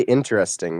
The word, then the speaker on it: interesting: Wellart how would you say interesting? Would you use four syllables or three? Would you say interesting or interesting? Interesting. Four. So just normal. Okay. So you well well it's actually more common in America to use the three syllable version to say interesting.